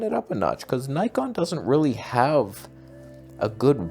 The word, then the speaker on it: Nikon: Nikon by the way in America every time I say Nikon it's pronounce Nikon you're a Nicko and elf go like build some raspberry bread or something like it's this is how Americans pronounce it's even officially said but in America it's pronounced Nikon like Nike we're morons this is